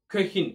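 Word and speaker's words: Köchin: இந்த இடத்தில் பாருங்கள், உம்லவுட் வருகின்றது. ஓவுக்கு மேல் இரண்டு குத்துக்கள் இருக்கின்றது, ஆகவே இது ஓ அல என்ற உச்சரிப்பு வருகின்றது, கெஹின் என்று வருகின்றது.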